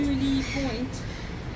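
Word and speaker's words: Mouille Point: Mooley Point. Apparently that is how you say it.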